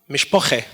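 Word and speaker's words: משפּחה: Hebrew it's pronounced mish Baha Metheny dish it's pronounced mishpocha so the final up changes into a same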